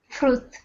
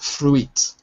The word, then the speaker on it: fruit: Because you notice English has all these silent letters. Okay, so here's another one for you. Take a look. Fruit. Right, not fruit, but fruit.